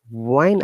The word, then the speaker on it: when: When I was, remember, not when, it's when, in WHEN, W is silent.